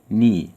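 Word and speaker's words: knee: ركبه يعني ني كلمه ركبه فيها حرف في الاول ا لا ينطق سايلنت هو حرف الكي يبقى هنبدا بالكي وهنا الكي مش هتتنطق وبعد كده ان اي يبقى ركبه يعني ني الصوره اللي جايه صوره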